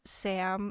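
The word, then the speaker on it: Sa5m: So I have a lot of notes for this movie, but just to keep it simple, Vanessa Hudgens plays Sam, spelled S-A-5-M, but the 5 is silent.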